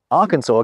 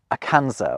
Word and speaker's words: Arkansas: of a word, so the final S isn't pronounced.